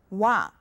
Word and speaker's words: 와: Now it's made of the basic vowels o and a. Can you tell? All right, now it's pronounced 와.